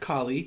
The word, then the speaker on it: Kali: So, Kali, pronounced Kali usually, and she's so cool.